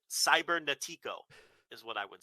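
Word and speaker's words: Cibernético: heard anybody say his name i used to pronounce that cyber natico cybernetics okay like a total gringo right cybernetico is what i would say speaking of which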